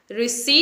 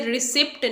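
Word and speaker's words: receipt: word is रिसी रिसी रिसी इसकी correct pronunciation है आपने इसे रिसीप्ट नहीं बोलना है बहुत से लोग रिसीप्ट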